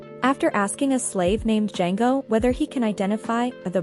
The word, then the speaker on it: Django: a highly rated movie django unchained yes i spelled it right the d is silent spoilers alert it is